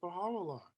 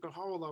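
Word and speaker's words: Bahá'u'lláh: of time the name baha'u'llah was spelled with an o for phonetic reasons because the use is pronounced o the short u is pronounced o and and spoken in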